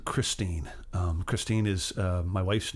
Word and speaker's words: Christine: a tune called christine christine is my wife's name and it's also one of those great rock and roll names it rhymes with queen gasoline and it also might in